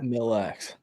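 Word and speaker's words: Mille Lacs: Ken Puit wants to know, Danny, which is me, needs experience Mills Lax, is that how you pronounce that? Milax.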